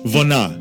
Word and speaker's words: Vona: Why don't we, since we're talking about the Ukrainian factor, how about we spin Vona? Sounds good. How do you say it? Vona.